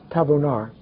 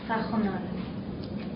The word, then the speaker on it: Tajonar: Tabonar. Is that right? It's Tajonar. Tajonar. Tach. Yes. But it looks like a V, but it's pronounced. Oh, it's a J.